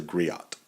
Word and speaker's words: griot: our upcoming video so he was a griot um or pronounced Grio depending on if you're using French or English pronunciation or a jolly which